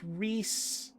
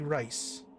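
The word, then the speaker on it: Rhys: play him doesn't no it's like reese it's two r's re something or other but it doesn't matter because the guy that got to play him doesn't know how to pronounce that name so his name is actually rice where did we even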